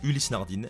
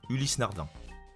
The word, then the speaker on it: Ulysse Nardin: numéro 8 ulysse nardin on entend parfois ulysse nardin mais la prononciation correcte et bien ulysse nardin sinon est tout simplement